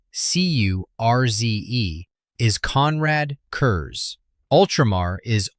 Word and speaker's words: Curze: His tormentor, Konrad Curze, k o n r a d c u r z e, is Konrad Curze.